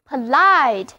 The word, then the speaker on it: polite: 上的，单词就读作 POLITE，意思是有礼貌的、文雅的。